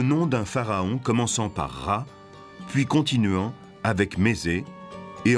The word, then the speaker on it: Ra: Champolion s qu copte il se prononce RA en bas une lettre